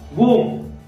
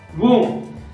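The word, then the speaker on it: womb: ठीक आहे, त्याच्यानंतर आहे वूम, वूम आता याचा अर्थ आहे गर्भाशय किंवा गर्भ असा त्याचा अर्थ आहे.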